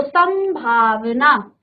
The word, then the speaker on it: संभावना: उच्चारण किसका आ रहा है? मो का उच्चारण। तो संभावना, उच्चारण देखेंगे, संभावना।